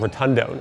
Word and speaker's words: rotundone: This unusual characteristic comes from an aroma compound called rotundone. It's spelled like rotund one, pushed together.